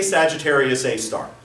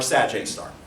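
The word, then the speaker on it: Sagittarius A*: the name of that how I say Sagittarius A star or sag a star don't some people say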